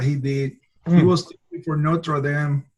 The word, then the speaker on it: Notre Dame: did he was for Notre Dame and no pronouncing that the English Way the Catholic University basic